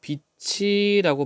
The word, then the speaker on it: 빛이: 자, 얘는 발음을 어떻게 돼요? 빛이라고 발음해야 돼요. 빛이. 요렇게 발음하는 것을 연음이라고 해요.